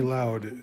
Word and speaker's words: Louth: County Loud, it's, but spelled correctly, it's Clark County Louth, or it looks like Louth, but it's County Loud. So he's from County Loud, Ireland.